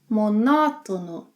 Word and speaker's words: monótono: When a syllable has an acute mark on, it means that syllable must be stressed. Yeah? Written marks are not always, are ways to show us that a word is not following the standard pronunciation pattern. So, anytime you see a written mark on a word, stress the syllable that has it on.